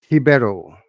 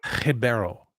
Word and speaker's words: Ribeiro: Ribeiro. Ribeiro. Ribeiro? You gotta roll the R's, man.